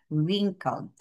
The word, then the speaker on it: wrinkled: Remember class ha this is a silent Word. We do not read or we do not sound water the word W. But when we spell it, it's there. But when we read it, it's silent W. That's why we read this as wrinkled.